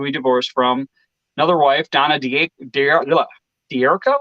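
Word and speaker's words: Donna D'Errico: divorced from another wife donna dierko is that what it is that's how it's pronounced yep yeah obviously married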